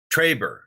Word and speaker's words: Trebor: Trebor. Well, that's how I say it.